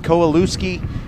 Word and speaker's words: Kowalewski: is ariel kowalewski she spells her name just like yours but pronounces it kowalewski and i love her